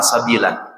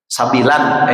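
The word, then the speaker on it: سَبِيلًا: Sabilan ini baca, kan harusnya dibacanya kalau pakai tajwid sabila, menjadi mad iwad gitu ya guru ya, menjadi mad iwad.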